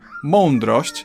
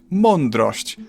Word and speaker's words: mądrość: like other vowels, but I guess it can sometimes turn into on if you don't try hard enough. Like in the word mądrość, it often sounds like mądrość, and no one seems to care.